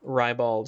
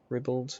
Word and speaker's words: ribald: I'm seeing both ribald and ribald. Hmm. So, whatever floats your goat. Okay. I guess ribald sounds more posh, but ribald is more the way it looks like it's spelled.